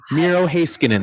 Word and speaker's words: Miro Heiskanen: Miro Heiskanen.